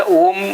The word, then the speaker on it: ओम: अच्छा, ओम अगर उच्चारण करना है तो पहले खींचेंगे और फिर नाक से छोड़ेंगे।